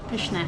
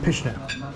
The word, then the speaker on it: pyszne: Pyszne. Pyszne.